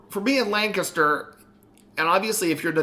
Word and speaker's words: Lancaster: She's like, it's not Lancaster, it's Lancaster. Lancaster. I don't know. I can't even say it with my southern accent. They say it with one syllable.